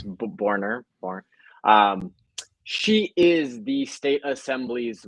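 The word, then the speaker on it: Boerner: Yeah, it's Borner.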